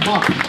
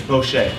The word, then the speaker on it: Bochet: Round of applause, please, to one of our judges, Bosch. Did I pronounce that correctly? It's Bochet. Bochet.